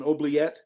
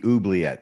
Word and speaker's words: oubliette: you call it an oblet uh and I think I mispronounced it it might be oet but yeah oet no